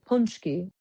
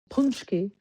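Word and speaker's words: pączki: Tuesday that's why we make punchki it's actually pronounced punchki punchki but which is weird because it has the it has the A but whatever.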